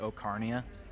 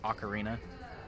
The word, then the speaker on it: ocarina: embarrassment I used to I used to pronounce it Oh carnea good Lord I had to force myself to say ocarina but now it's common